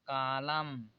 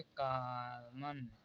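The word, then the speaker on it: column: एन कॉमन हो जाएगा इसे पढ़ जाएगा कॉलम आप लोग इससे पहले नहीं जानते रहे होंगे तो इसे पढ़ रहे होंगे का मन अब यहां पर इसे कॉलम पढ़ा जाएगा क्योंकि यहां पर एन साइलेंट हो जाता है जब एम एन दोनों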